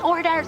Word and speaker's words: hors d'oeuvres: And I'm like, the theater teacher was like, it's hors d'oeuvres, and she kept having to say it because I just could not get it through my head. So I guarantee you, I would have completely butchered this. Obviously, I can say horse. Dueries. That's probably how I would have said it.